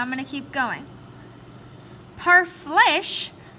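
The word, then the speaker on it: parfleche: going to keep going par flesh pronounced par flesh were made from hides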